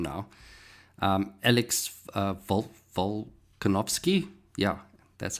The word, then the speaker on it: Volkanovski: Um Alex Vol- Volkanovski.